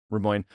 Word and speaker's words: Rimoin: Rimoin.